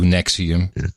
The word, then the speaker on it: NXIVM: How does anybody pronounce that Nexium? It's kind of in a Haxor. So NXIVM, so it would be Nex, I, instead of the V, a U, Nexium.